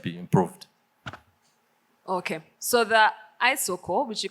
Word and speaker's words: iSOKO: Okay, so the iSOKO, which you correctly Ah, pronounced because thank it's you. internet. There are Yeah. two words, internet, I, and then Soko is really Sokoni for market in Swahili.